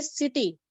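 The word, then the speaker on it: city: बेटा मैंने आपको पहले भी बताया था कुछ वर्ड्स ऐसे होते हैं जो लैटिन लैंग्वेज से ही आते हैं, उनको ऐसे ही प्रोनाउंस किया जाता है जैसे ये है. अब बाकी हमने इन सबको क से प्रोनाउंस किया, लेकिन अब हम इसको बोलेंगे सिटी.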